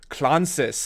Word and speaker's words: Klontzas: Hey everybody, this is with Brutal Resonance, and I'm here with the one, the only George Klontzas. I think I pronounced that right this time.